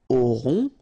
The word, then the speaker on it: aurons: Nous aurons, final S not pronounced, O and N together, nasal, on, A-U-O, auront, alright.